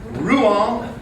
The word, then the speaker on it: Rouen: We should say that word the way they pronounce it. Rouen in France.